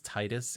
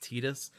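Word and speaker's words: Tidus: Fantasy 10 says that the protagonist's name is Titus, even though subsequent media has revealed that it's in fact pronounced Tetus, but they continue to say Titus because that's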